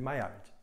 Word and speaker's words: Maillard: mais de 100 anos reação de maillard ou de maillard como alguns pronunciam tem duas pronúncias que são são comuns você reconhecer mas a pronúncia correta ao meu ver é de mayara a eu quero só